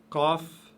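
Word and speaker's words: قاف: Qaf, qaf, toujours lourde, aucune exception. Elle s'apparente à la lettre K de la langue française, cette lettre qui est prononcée, bien entendu, très lourdement, comme dans le mot karaté. Mais c'est plus lourd que ça encore, c'est K, K, K.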